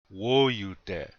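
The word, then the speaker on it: wóyute: You hear that the accent's on the first syllable. Woyu de.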